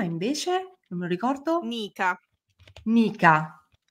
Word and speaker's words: Nica: lo ricordo Nica Nica Ah ok tipo Veronica o tipo Nica Nick la farfalla c'è una farfalla che si chiama Nika ma gli americani la chiameranno sicuramente come la chiameranno Nik tipo Nike come dicono nikee gli americani cioè di Nike Ma